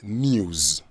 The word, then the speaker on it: news: try news news so in there the s that you see is pronounced as Z or Z if you want Z so it is news the Americans say news